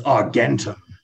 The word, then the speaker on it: Argentum: you find the silver dragon his name is argentum that's a-r-g-e-n-t-u-m if you seek out the ancient